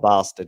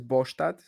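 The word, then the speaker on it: Båstad: So Yeah, the I'm way I pretty said sure it, it's not Bastard, whichever way you yeah, look the at way I it. said is Bostad, but it's like kind of it's not perfect Swedish pronunciation, but it's close-ish.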